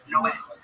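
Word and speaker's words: Noé: Like in the Bible, the Spanish translation, it's Noe is Noah, but it's pronounced Noe.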